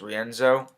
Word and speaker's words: Rienzo: is rick porcello against rienzo i believe is how you say his name andre rienzo um so